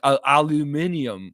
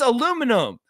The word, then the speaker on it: aluminum: Linguistics around the world the people in Britain pronounce everything crazy like aluminium like what the it's aluminum Al